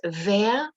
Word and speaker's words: wer: Now, when you're actually pronouncing the question word, make sure your W, that you don't say where, wo, wie, wann, was. Ich kann das kaum sagen. I can't even say it like that. But make sure it's like the English wie, as in very, very. So it's wer, wo, wie,